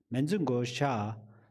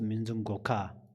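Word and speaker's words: Manjughosha: Manju Gosha, sometimes Manju Goka. This is the way of the pronounce both, correct?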